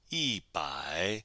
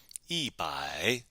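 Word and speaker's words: 一: 100 we would say e one plus 100 and don't forget the tone Sandy rule here too right e for one is normally pronounced with first tone but when it's followed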